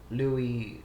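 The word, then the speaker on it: Luis: Ballad of Gay Tony Louie that's how you pronounce his name Louis do we have to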